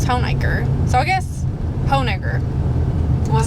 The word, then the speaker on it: Honaker: yeah there you go so that is how i know that we are pronouncing hoenaker right because a lot of people outside southwest virginia will say hanukkah now that still that's not how you pronounce that people will correct you